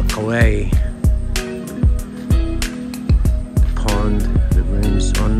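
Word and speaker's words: Khwae: It's not actually pronounced Kwae in Thai, it's the River Kwae.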